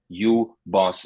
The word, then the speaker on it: UBOS: Would you so in terms of pronunciation, Doc Searles, my friend Doc Searles, pointed out you can pronounce this as you boss, as in you are the boss.